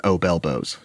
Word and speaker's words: obelbos: and we landed on obelbos. Oh, how do you say it? Obelbos. Obelbos? Yeah, like obese elbows, obelbos.